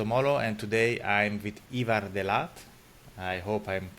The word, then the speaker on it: Ivar De Laat: name is moo and today I'm with Evar deat I hope I'm pronouncing correctly that's very good actually perfect uh